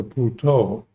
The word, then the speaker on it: Buddha: So I changed the mantra from let go to Puto, which is the way the Thais pronounce Buddha. They say Buddha.